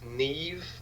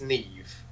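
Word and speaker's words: Niamh: So, Censor, directed by Prano Bailey Bond, starring now, I think it's Neve Alger, because it's one of those Irish names that's spelt not how you pronounce it. Yep. I think it's Neve.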